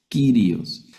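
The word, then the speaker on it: κύριος: E la primera palabra la vamos a leeríos, la iota y la omicron en ese orden no forman diptongo. Si estuvieran al revés formarían un ditongo. Aquí leemos las todas las letras kirios.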